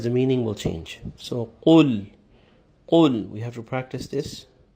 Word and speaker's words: قُلْ: In the first verse, we have to take care that the first letter is pronounced properly, and we say qul and not just kul. It's the deeper qaf, where the extreme back end of the tongue touches the palate in the back.